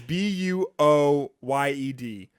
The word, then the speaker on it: buoyed: Yeah, it's Buoyed. Wait, what? Buoyed. Buoyed. Boyd. Oh, like buoy, like a buoy, Like a like buoy.